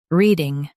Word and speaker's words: reading: Both US and UK have the same pronunciation of this word, reading. Now read the syllables shown on the screen naturally. Read, ing, reading. Emphasize re and keep ding soft.